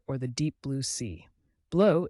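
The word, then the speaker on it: bleu: the deep blue sea blow is pronounced blue similar to the English word blue but softer vert stands for green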